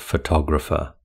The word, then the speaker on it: photographer: Which syllable has the main stress in the word photographer? It's the second syllable that has the main stress in photographer.